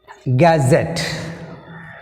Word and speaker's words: gazette: Gazette, gazette, gazette, gazette, gazette. Here gazette, z, ette came, ette came. Before ette, z is there, z letter is there.